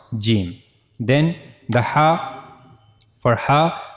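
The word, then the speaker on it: جيم: As you can see here this is the middle of the tongue and it will connect it will meet to the roof of our mouth and that's how we can easily pronounce jim.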